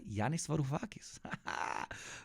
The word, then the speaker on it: Yanis Varoufakis: Are you jealous of me that I can pronounce his name properly? Yanis Varoufakis.